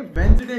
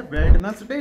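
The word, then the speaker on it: Wednesday: जाने दो जाने दो तो इसको कायदे में वेनसडे कहा जाता है वेडनेसडे नहीं कहा जाता वेनसडे हम कहते हैं तो वेनसडे जब हम कहते हैं तो इसमें डी जो है वो आपका साइलेंट हो जाता है डी कोड़ा दो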